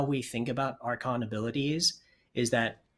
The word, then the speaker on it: Archon: Let's move on to Archon modes. And I guess, first of all, am I pronouncing that correctly?